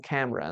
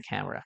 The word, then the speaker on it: camera: Por ejemplo, I want to buy a camera. Quiero comprar una cámara. Tenemos dos sílabas. Camera. ¿Qué letra no suena? No suena la letra E.